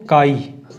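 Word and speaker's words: chi: English pronunciation क्या होगा, हिंदी में हम लोग इसको काई, है ना, वो मिट्टी वाला काई प्रोनाउंस करते हैं।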